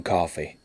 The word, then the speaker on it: Coffey: John Coffey. Like the drink, only not spelled the same.